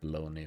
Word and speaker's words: bologna: I know it's pronounced bologoney, but it really it's just spelled bologna, so who would who would guess if you didn't know, right?